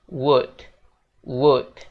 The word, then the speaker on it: would: mungkin kata yang ini kita bacanya bukan W tapi kita bacanya W would gitu guys jadi l-nya hilang gitu jadi untuk full version-nya